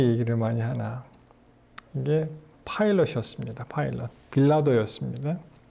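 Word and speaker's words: Pilate: 여러분이 빌라도의 발음은요, 파일럿입니다. 파일럿. 마치 조종사 그 파이로트 있죠? 이 파일럿입니다.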